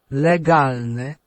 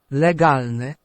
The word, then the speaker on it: legalne: It's going to be galne. So we just need to know how to pronounce the first part of the word. Legalne. Legalne. And there we can hear that the E is said like E in elephant, an E sound, E.